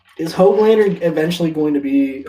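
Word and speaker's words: Höglander: Oglander? Hoglander. Yeah.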